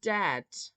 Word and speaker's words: dead: And dead, it's said, like bed, not bead. For goodness sake, don't call it deed.